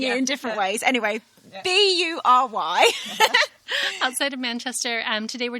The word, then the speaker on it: Bury: We are here in Barry. Or Berry. Bury is how I would... Right, we're all pronouncing it in different ways. Anyway, Bury.